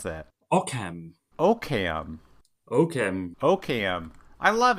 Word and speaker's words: OQCAM: I can pronounce o qcam how do you pronounce that okam oam oam oam I love it oam welcome